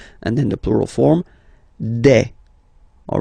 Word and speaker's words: des: Okay, and then the plural form, des. All right, here s, you pronounce it like e.